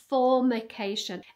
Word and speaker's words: formication: of is something called formication be careful how you say it formication and it's the feeling